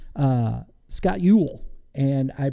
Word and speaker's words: Eul: today I have to my right uh Scott Ewell and I pronounced that correctly you did you nailed it